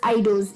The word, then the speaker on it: eidos: पहले स्पेलिंग बात कर लेते हैं, EIDOS आइडोस।